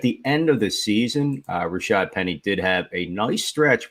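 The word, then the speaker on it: Rashaad Penny: at the expense of Rashard Perry, and it's no slight. Again, I mean, it's no slight. I just said his name wrong on purpose. Yeah, and that it's kind of funny. Rashad Penny.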